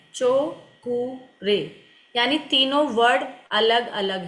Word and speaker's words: Cho Ku Rei: तो स्पेलिंग मैं यूज़ सी एच ओ ठीक है चो कु रे ये इसकी स्पेलिंग है चो कु रे यानी तीनों वर्ड अलग-अलग है सी एच ओ